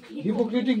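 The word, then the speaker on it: hypocritic: think he ইজ এ হাইপোক্রিটিক হাইপোক্রিটিক ক্রিটিক I tend two think he ইজ এ হাইপোক্রিটিকোটিক হাইপোক্রিটিক বা হিপোক্রেটিক হিপোক্রেটিক বললেই বেশি ভালো উচ্চারণটা হিপোক্রেটিক I tend two think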